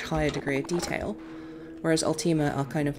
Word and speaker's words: Ultima: shotgun nope how do you pronounce ultima you pronounce it ultima just like that it's it's ultima um ultima altima was kind of more of